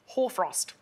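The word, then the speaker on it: hoarfrost: porn that however frost i believe it's genuinely pronounced horfrost didn't feel comfortable saying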